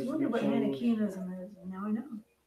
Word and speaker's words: Manichaeism: Manichaeism. Yeah, Manichaeism, yeah. That's how you say it. I found that out recently.